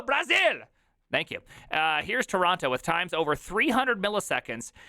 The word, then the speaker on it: Toronto: but it's a lot Toronto stop with the T Toronto no sorry uh